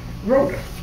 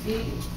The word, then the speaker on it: Phoebe: first and second verse no that's not Road I'm not pronouncing her name right fee fee thank you ma'am and